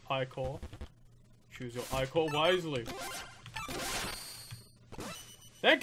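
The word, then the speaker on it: Ichor: That's pronounced Ikor.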